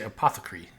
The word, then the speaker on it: apothecary: And I guess is apothecary like the right American pronunciation? I know in like England they would say apothecree. I'm not sure exactly what we say here.